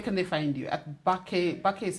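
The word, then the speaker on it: BAQE: At Bake. Bake is spelled? The Bake is spelled B-A-Q-E.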